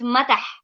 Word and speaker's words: mata: your language the head we call it Mata Mata no matter how we have with tea not to the D with the tea Mata yeah Mata Mata